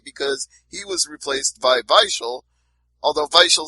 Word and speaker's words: Weichel: And I know he pronounces his W's with V's too, because I heard him do it while I was talking to him. He said vate instead of wait.